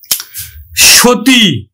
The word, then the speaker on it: সতী: দীর্ঘইকার আছে, তাহলে আমরা উচ্চারণ করব কিন্তু নো আর দয় রস্বইকারে দি, আমরা দীর্ঘইকার উচ্চারণ করি না, রস্বইকার উচ্চারণ করি, নদী। সতী, আমরা দন্ত স উচ্চারণ করি না, তালব্য স উচ্চারণ করি, সো দীর্ঘইকার উচ্চারণ করি না, রস্বইকার উচ্চারণ করি, সতী।